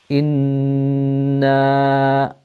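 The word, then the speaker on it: إنّا: a noon with a shadda on it, which means that we elongate the sound of the noon, and also we have ghunna, this sound that emanates from the nose. Inna, and then as you pronounce the noon with the fatha on it, then your upper jaw needs to move up.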